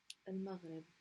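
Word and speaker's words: المغرب: for the meme, because the lam here is always pronounced with a sukoon, so it doesn't need a haraka. Al-magh, stopping on the ghain, rib. Al-maghrib.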